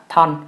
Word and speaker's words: Chthon: quỷ tên là Thon, lại phải đánh vần lại lần nữa là Chthon, nhưng mà cái âm CH trong tiếng Anh nó câm. Mình rất muốn đọc là Chthon hoặc Chthon bởi vì nghe nó hay hơn, nhưng mà thực sự cái tên này chỉ đọc là Thon thôi.